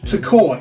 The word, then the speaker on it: Tekoa: DJ Payne I am recommending a band named Toccoa AKA to koi it's spelled t-e-k-o-a I'll put it on the screen